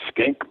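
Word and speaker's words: Schenck: His brother-in-law, one of the Skink brothers, rhymes with skunk, sold him out and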